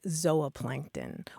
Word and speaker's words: zooplankton: going on here well the super traditional scientific uh pronunciation would be a long o sound like zoa Plankton or zoology and the